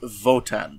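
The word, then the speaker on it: Wotan: so okay so many of the characters in this pronounce Wan as votan yes and I don't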